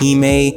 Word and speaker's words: hime: both ended in the letters h-i-m-e which is pronounced he may and they both had